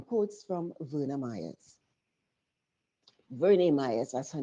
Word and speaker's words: Verna Myers: Verne Myers, as her name is pronounced.